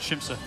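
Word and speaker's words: Siamsa: Richard, we call it Shimsa. We do. We do. Yeah, well, those of us that mispronounce it don't pronounce it that way.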